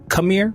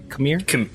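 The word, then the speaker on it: Qimir: and what you said kamir with a K kamir it's with a q but it's it's pronounced cir like with a K come here I got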